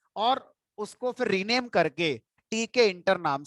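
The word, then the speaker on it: Tkinter: Interesting point क्या है, मैंने एक बात बोली थी शुरू में कि मैं टी के इंटर को टी के इंटर प्रोनाउंस करता हूं, बहुत सारे लोग किंटर प्रोनाउंस करते हैं।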